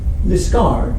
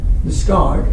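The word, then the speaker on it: Liskeard: And this idea that the stress is on the second syllable actually gets extended in speech in Cornish to places of purely English names. So for example, we have Liscard, which is correct because this bit is the qualifier.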